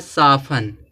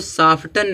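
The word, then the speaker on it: soften: यहाँ पे जो दिया है, यहाँ जो दिया है साफन, इसको साफ्टन नहीं पढ़ते हैं।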